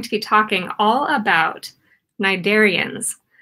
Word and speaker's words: cnidarians: Today, we are going to be talking all about cnidarians. Cnidarians have a very strange spelling. The way that their name is spelled starts with a C, cnidaria. Jellyfish are cnidarians, and so